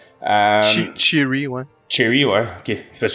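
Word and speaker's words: Che'ri: est Cherry, j'imagine, c'est le même qu'on le prononce. Cherry, ouais.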